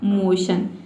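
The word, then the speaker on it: motion: तो देखिए MO का हो जाएगा मो और TION को हम पढ़ते हैं शन, तो इस तरह से इसका प्रोनाउंसिएशन हो जाएगा मोशन।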